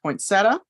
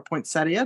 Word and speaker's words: poinsettia: um then we have our poinsettia or poinsettia depending upon how you say it we have our cute